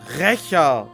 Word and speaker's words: Rächer: It's pronounced Rächer of Solnari. It's German.